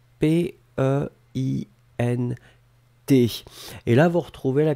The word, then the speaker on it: peint: P-E-I-N-T. Et là, vous retrouvez la connexion avec tous les substantifs, les mots comme peinture, peintre, etc., etc. Donc c'est P-E-I-N-T et phonétiquement on prononce peint avec le verbe avoir.